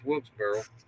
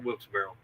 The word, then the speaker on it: Wilkesboro: was they went back to North uh North Wilkesboro or Wilkesboro Wilkesboro Wilkesboro yeah I think I'm saying it